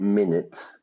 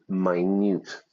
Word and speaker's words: minute: to look for minute, the pronunciation there, not minute, minute, very, very, very, very small physical reactions on the faces of people being questioned.